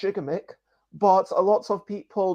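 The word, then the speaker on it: Gigamech: that's very different because um this company is pronounced jigamik but a lot of people mispronounce it as gigamic okay what a coincidence that is really fascinating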